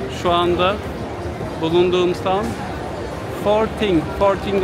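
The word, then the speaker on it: Forthing: anda bulunduğum ST forting forting olarak İngilizce okunuşunu söyledim Evet İngilizce okunuşu forting yine bir Çin Markası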